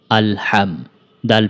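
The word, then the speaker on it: الحمد: আমার সাথে সাথে বলুন হামজা লাম জবর আল হা মিম জবর হাম আলহাম দাল পেশ দো আলহামদু আলহামদু হা এর উচ্চারণটা পাতলা করে উচ্চারণ করতে হবে।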